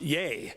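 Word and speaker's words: YEA!: is the there is ye a with an exclamation mark is pronounced yay and yay is a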